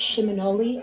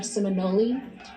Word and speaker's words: Seminole: word or Muskogee word, and it's pronounced Shiminole or Seminole.